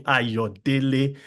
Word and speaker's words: Ayodele: okay, you call me Ayodele. There are like 3 syllables in my name. Ayo, therefore Ayodele, not Ayo or Ayo or Ayodele.